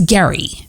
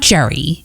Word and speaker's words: Gerry: His name's Gary. Not Jerry, even though it's spelled Gerry. That's why I watched the show a little bit, because I had to figure out what his name really was. And it's Gary. Gary.